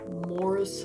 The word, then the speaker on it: Morris: how to read those i just say morris because that's what it looks like it's pronounced morris lester got it oh